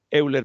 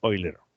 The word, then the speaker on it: Euler: a partir de ahí quedé convencido que la pronunciación correcta de la palabra es oil ero bueno entonces cómo sería